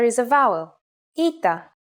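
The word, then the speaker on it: ήτα: letter is a vowel ITA which makes an e sound like I said before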